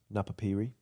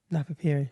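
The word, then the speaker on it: Napapijri: Do you want to know in the meantime how that's pronounced? Oh yeah, go on. Napapiri. Napapiri.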